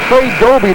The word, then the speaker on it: Doby: They tried Trey Doby. That's the pronunciation of that player.